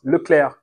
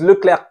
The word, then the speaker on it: Leclerc: sains et euh Charles Leclerc qui sait même plus prononcer son prénom je sais pas si vous avez vu il s'appelle Charles Leclerc maintenant il le dit en interview euh Charles Lecler grosse déception grosse déception